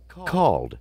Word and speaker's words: called: te at the end called called which would be the D sound at the end arrived arrived wanted decided